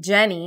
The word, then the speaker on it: Yenny: pronounced Yenni but my the y in Spanish is a j so everybody calls him Jenny not Yenni but in eng everybody